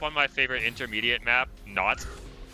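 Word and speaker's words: Naut: Aussie, hop on my favorite intermediate map, Not. That's spelled N-A-U-T.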